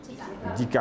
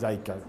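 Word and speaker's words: Zika: একটা তো আমরা খুব কমন ডেঙ্গি বা ডেঙ্গু যেটাই বলেন, একটা চিকুনগুনি, আরেকটা হচ্ছে জিকা বা জাইকা, দুটোই দুইভাবে উচ্চারণ করে মানুষ।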